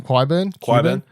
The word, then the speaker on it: Qyburn: Qyburn.